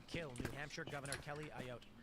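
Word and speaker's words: Ayotte: 22-y old man charged with threatening to kill New Hampshire Governor Kelly Ayote. How do you pronounce that? Ayote. Yeah. Ayat.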